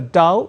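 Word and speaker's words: dhow: but uh is a stitched ship called a dao it's spelled as d h o w is that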